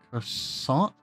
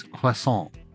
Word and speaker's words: croissant: A croissant? No, my little friend, it's croissant. You say it like this, croissant.